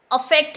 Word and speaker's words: affect: तो स्पेलिंग पे ध्यान दीजिएगा, केवल यहाँ पे ई है इफेक्ट में, अफेक्ट में ए है। बोलने का तरीका भी देखिए, इफेक्ट, अफेक्ट।